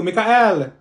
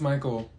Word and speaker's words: Michael: say she's beating you mean Beatrice thank you Mikhail ma'am it's Michael okay what about slow no they look like